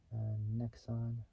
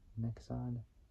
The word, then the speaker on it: Nexon: It's like saying the word xenon. So xenon, like xenon lights, or xenon lights, but swapping out both the letters X, so X and N, between the E and flipping it around.